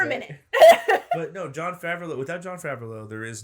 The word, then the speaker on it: Favreau: That's Favreau.